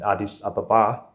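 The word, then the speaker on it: Addis Ababa: flight here to Wi hook the layover in Adis Ababa is that how you say it yes that's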